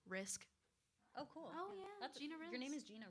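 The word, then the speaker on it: Rizk: How do you pronounce that? Risk.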